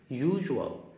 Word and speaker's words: usual: usual usual خلي بالك الاس هنا هتنطق جه جه.